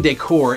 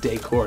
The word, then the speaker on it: decor: Cabin decor is a fun element of camp that will inspire and include all of your campers. And it's pronounced decor, not decor.